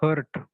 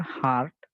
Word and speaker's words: heart: people have to think many students they say it hurt but it is not hurt you people have to pronounce it as a heart and not hurt hurt is another word